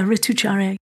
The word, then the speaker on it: Ritucharya: Yeah, Ritucharya.